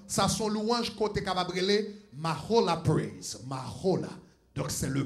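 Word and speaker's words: מחולה: Donc, H ça, là où elle colle comme ça, ou prononcer le Mahola.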